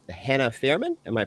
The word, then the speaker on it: Fierman: very special guest with me today it's Hannah Fairman am I pronouncing that right yeah uh she's I'm a